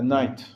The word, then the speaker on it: knight: time in English uh that kind of night is spelled with a k but it's pronounced Knight one time there was